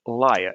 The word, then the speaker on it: lyre: If that word liar is recounted, it's told, it's pronounced, it sounds exactly the same as the word lyre, lyre, which is an ancient instrument.